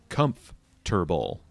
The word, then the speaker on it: comfortable: a funny way uh we Americans typically say the word comfortable you know if you sound it out phonetically it should be Comfort comfortable comfortable but I and I assume many others just just get lazy and shorten it to comforable just funny language is